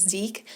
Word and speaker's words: Zeke: In fact, I decided the pronunciation is Zeke so that his name literally sounds like wreak havoc.